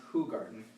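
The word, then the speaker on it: Hoegaarden: using a hoo garden who garden not hogan is pronounced who garden octo glass and we'll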